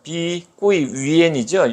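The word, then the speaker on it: 碧桂园: 하더라고요 자기들은 컨츄리 가든에 중국말로는 벽이 비니까 비 꼬이 원래는 지금은 언론에서는 비구이 위안 이렇게 나는 비꼬이 위엔이죠 영국식 발음을 위한 비꾸 위엔 이렇게 되는 건데 어쨌든 b92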